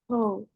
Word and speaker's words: whole: Okay, the letter W doesn't sound. How do you pronounce that word? Whole.